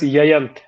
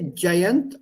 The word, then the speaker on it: Jayant: So I should introduce myself as Yayant then. Nahi. Say Jayant, and after that, you are the king until they get the pronunciation right.